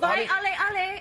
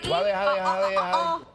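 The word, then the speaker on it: Waiʻaleʻale: How did you pronounce it again? Thank you. No, I'm sorry, but Waialeale. I'm from Hawaii. Waialeale.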